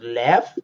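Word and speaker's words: Leffe: I think it's pronounced lef, but you could say lefe. I think it's lef.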